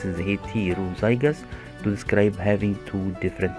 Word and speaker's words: heterozygous: Scientists use the word heterozygous, pronounced heterozygous, to describe having two different alleles.